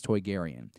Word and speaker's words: Toydarian: to Jodi Hauser's tweets Toydarian is how you would pronounce this Toydarian and it turns out